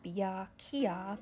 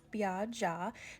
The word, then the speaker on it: Beya Kyaw: called bia ja i know it looks like bia kia but it's pronounced bia ja they're split p fritters and i'm also going